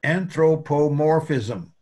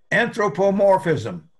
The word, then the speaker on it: anthropomorphism: that is the word anthropomorphism right let's have a spell it out in syllables anthropomorph that's big letters means the accent is there morphism now i want you all try to say it anthropomorphism anthropomorphism good now what